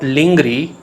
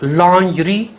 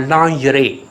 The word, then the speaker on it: lingerie: It's not lingry, it's lingerie or lingerie.